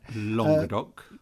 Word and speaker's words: Languedoc: Pronounced Languedoc, is that right? Languedoc. Languedoc, pardon moi.